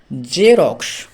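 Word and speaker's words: Xerox: জেনন মানে হলো একটি নিষ্ক্রিয় মৌল তারপরে দেখো জেরক্স জেরক্স বানানটি হলো এক্স ই আর ও এক্স তাহলে এক্স ই এক্স এর উচ্চারণটা হলো বর্গীয় জ এবং ই তে হলো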